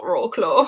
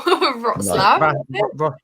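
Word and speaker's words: Wrocław: That's literally not roarclaw. Roslav. Yeah. Yeah. Yeah. Yeah. So, that's it. Yeah. The W is a V.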